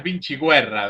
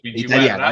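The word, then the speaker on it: Vinciguerra: Andreas Andreas Vinchiguerra vendría ser como italiano. Vinchiguerra ahí está Vincher.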